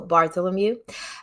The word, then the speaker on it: Bartholomew: I just learned how to pronounce it because I was pronouncing it the Russian way. So Bartholomew at CFR on democracy, nationalism, and the path to healing.